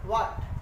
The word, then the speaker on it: what: W के बाद H आने पर, W के बाद H आने पर H साइलेंट होता है। वाट, WHAT वाट। WHEN when, WHERE where. WH से जितने हैं सारे के सारे में H साइलेंट होता है। हाँ, बहुत लोग ऐसा पढ़ते हैं वाट, वेन, वेयर, नहीं, वाट, वेन, वेयर।